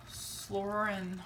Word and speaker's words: psoralen: It's also, there has a raw material in it, and it's it's a Slorin, I think is how you say it, and it's treatment for psoriasis.